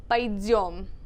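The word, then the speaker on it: пойдём: Next one, пойдем. Пойдем. Yeah, so actually if you look at that second syllable, you really hear that yo sound.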